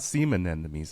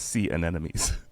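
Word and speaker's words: sea anemones: during a low is am I saying it wrong you left yeah it's not SE an enemies it's C an enemies huh what what see an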